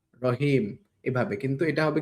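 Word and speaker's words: راء: একটু ভালো করে একটু মোটা করে আপনার পড়তে হবে। তো এটা কিভাবে পড়বেন? এটা পড়ার জন্য হচ্ছে আপনার এই হরফটির উচ্চারণ বাংলাতে র বিন্দুর মতন আরকি কিন্তু কিছুটা ব্যতিক্রম। র ধাক্কা দিয়ে পড়বেন।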